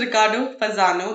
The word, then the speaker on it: Riccardo Fasano: Well, this is Riccardo Fasano, the correct pronunciation of his name, Italian accent wise.